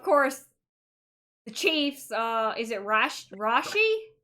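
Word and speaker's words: Rashee Rice: Is it Rashi? How do you pronounce his name? Rasheed Rice.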